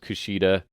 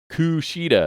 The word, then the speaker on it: Kushida: So after Diener and Joe Doring attack, and good old Kushida comes down to make the save, and Tom Hannafan is his name, right?